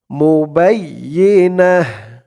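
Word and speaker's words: مبينة: হা উচ্চারণ করলাম কেন কারণ হচ্ছে অকফ করার সময় এই দেখুন এখানে আমরা জিম চিহ্নতে অকফ করেছি তো অকফ করার সময় গোল তা থাকলে সেই গুলতা টা হা হয়ে যায় মুবাইনা নুনের উপরে জবর দিয়ে হা কে ধরলে যেমন উচ্চারণ হয় এখানে তেমন উচ্চারণ হবে বিফাহিশাতি মুবাইনা বিফাহিশাতি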